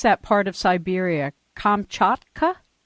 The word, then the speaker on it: Kamchatka: well as Bear Man of, how do you pronounce that part of Siberia? Kamchatka? Kamchatka.